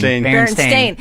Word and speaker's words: Berenstain: Berenstain.